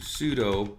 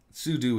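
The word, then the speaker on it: sudo: so we want to pseudo because I'm or pseu it's both pronunciations are correct sudu is more correct but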